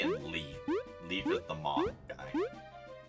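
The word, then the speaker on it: Leif: No, it's not spelled like that. L-E-I-F. Yeah. Like life. But different.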